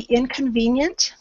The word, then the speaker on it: inconvenient: And the last one, again, it's an ending sound on the inconvenient. Let me spell it here. Inconvenient, the T at the end, and of course that's an NT sound, so again it's a combination.